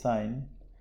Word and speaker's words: sine: It's spelled like sin, but it's sine.